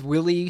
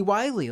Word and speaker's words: Wylie Aronow: I just thought he was Willie spelt with a Y, but we were talking prior to this, and you informed me that his name was actually Wylie, like Wile E. Coyote.